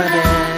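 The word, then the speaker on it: D.A.R.E.: d a r อี อ่าน ว่า แด แปล ว่า กล้า พวก หนู จะ กล้า ทำ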